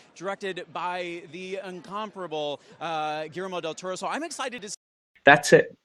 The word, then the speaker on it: Guillermo del Toro: She is in one of my favorite movies of the year, The Shape of Water, directed by the incomparable uh Germo del Toro.